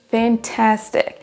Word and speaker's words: fantastic: On ne dira pas It is really fantastic ou fantastic, mais fantastic. It is fantastic. La deuxième syllabe est prononcée plus forte que les autres.